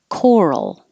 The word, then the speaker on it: coral: a fenced in area and coral the stress is on the first syllable coral like coral reef